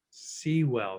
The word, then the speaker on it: Sewell: Sewell, that's how you say it.